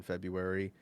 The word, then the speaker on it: February: Like you don't pronounce the first R in February, and you don't pronounce the NES in Wednesday like it's spelled.